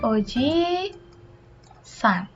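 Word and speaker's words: おじいさん: Oji, jangan lupa I-nya 2, Oji san adalah kakek untuk keluarga orang lain.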